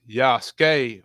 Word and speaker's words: Yasuke: Yasuke, pronounced Yasuke, was a Japanese name.